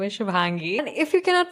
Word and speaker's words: Shubhangi: So for anyone who's curious about my name is Shubhangi. And if you cannot pronounce it, I love Shubi.